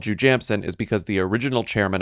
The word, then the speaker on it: Jujamcyn: So, there are the Shubert houses, there are the Nederlander houses, and then there's Jujamcyn. And do you know where the word Jujamcyn comes from?